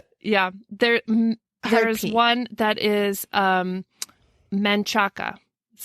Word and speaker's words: Manchaca: There's one that is Manchaca. That's how it looks. That's how it's pronounced. Manchac.